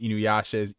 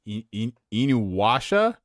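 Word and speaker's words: InuYasha: and I'm like okay my classmates in high school pronounced Inu Yasha Inu washa wow the W with the Y maybe we were all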